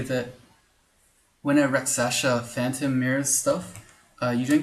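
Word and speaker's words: Rakshasa: Raksasha.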